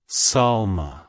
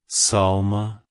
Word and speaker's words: Salma: well-being it's pronounced as Salma Salma Salma to pronounce it correctly emphasize the first syllable Sal and then smoothly transition to the sound keep the emphasis light